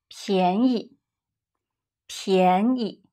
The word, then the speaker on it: 便宜: 便宜便宜 A rising tone, 便 And a neutral tone, 宜便宜便宜 Now, water is 水 Low tone, 水水水 and coffee.